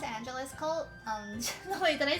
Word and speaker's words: Angelus Cult: Wait, how do you pronounce Angelus Cult? The way that I said it just now. Like Los Angeles and then Cult.